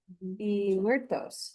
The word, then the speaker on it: Muertos: Oh, because it's on the second specific kind of it's um uh how would you how do you pronounce that? Muertos where horror meets heritage.